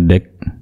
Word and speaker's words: deque: Atau dibaca dengan the queue, atau biasa juga disebutkan deck ya. Deck, kita bacanya deck.